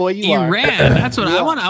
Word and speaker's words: Iran: I want to ask the panel about Iran. Iran. Iran. Yeah. Way to say it. Okay. I follow you my my farsy brothers. That's how they say it. They don't say I ran.